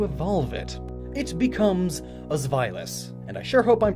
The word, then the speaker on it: Zweilous: But trust me, I looked it up, found like 40 different ways to pronounce it, and that one makes the most sense. Zweilous, it's German.